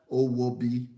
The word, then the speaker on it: Owobi: But now, the way you pronounce your name, I'm going to pronounce it the African way because you are pronouncing like an English girl. So I'm going to say her name is Owobi.